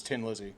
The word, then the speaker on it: Thin Lizzy: It's just like in Ireland, it's Tin Lizzy, Yeah. not Thin Lizzy.